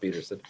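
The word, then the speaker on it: Pederson: They're all it's down Pedersen, but it's pronounced Peterson.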